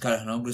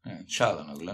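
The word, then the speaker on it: Çalhanoğlu: I don't like the way you say his name. What should I say, man? Calhanoglu. No? Calhanoglu. Yeah, figlio di puttana. No, man. Calhanoglu. Okay. Calhanoglu. for Inter's lineup, it was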